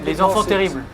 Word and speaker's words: Les enfants terribles: Les enfants terribles. Oh yeah, there we go. We have That's the actual first time I've ever heard that the perfect. first time I've heard the French pronunciation of that.